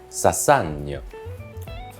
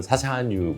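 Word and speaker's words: Chassagne: 자, 다음은 사산이요. 맞나 모르겠네요. 맨날 베누앙뜨가 저를 갈궜던 베누앙뜨가 사실 베이스가 사샤뉴잖아요. 저희는 사샤뉴 몽라시아라고 하는데 사산이요라고 하더라고요. 우리 발음이죠. 제 발음이 이상한 겁니다.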